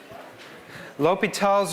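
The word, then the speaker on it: l'Hôpital: going to do today lal's rule is also known as lital rule that's the same name since the circumflex is what you put in French to um to uh omit the S so it's the same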